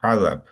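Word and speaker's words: عذاب: আমরা বাংলাতেও বলি না আজাব, আজাব বলি, বাট এটা হচ্ছে অ্যারাবিকে উচ্চারণটা হবে আইন দিয়ে শুরু হবে, আজাব।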